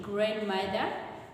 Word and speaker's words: grandmother: yeah supposed to be grandmother grandmother the D this D is Silent not Grand but grand